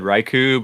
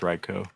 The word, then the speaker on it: Raichu: I have always said Raichu, but it's pronounced Reicho.